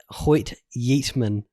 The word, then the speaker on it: Hoyt Yeatman: A guy called Hoyt Yeatman. Hoyt Yeatman. Which, I'm sorry for laughing at your name. It sounds hilarious. Because is that a real name? Because of the word yeet. It's spelled Y-E-A-T.